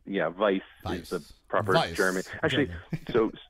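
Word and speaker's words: Weiss: ISS but like yeah vice is properly Jeremy actually so yeah so it's it's a it's actually based on a Hungarian spelling okay which is when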